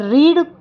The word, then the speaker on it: read: हो रही है, तो वर्ब की सेकंड फॉर्म लगती है और रीड का सेकंड फॉर्म रेड होता है, लेकिन लिखाता रीड ही है।